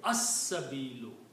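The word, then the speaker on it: السبيل: And because Seen is a Shamsi letter, so the pronunciation will be as-sabilu.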